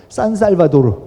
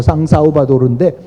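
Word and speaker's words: São Salvador: 하여튼 그 국가 이름인데, 하여튼 그 부분하고 이제 섞여 있는 부분이지만은 그 이전부터 서양 제국주의 도래 이전부터 수도 산살바도르, 그러니까 포르투갈 발음으로 상사우바도르인데 주변에는 노예 장원들이 꽉 둘러싸고 있었고, 그리고 전국에서는 세금을 마구 거두면서 그걸 갖고 이 왕국이 살아가고 있었어요.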